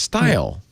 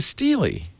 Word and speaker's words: stele: He pronounced style. And I thought, "No, it's a stele."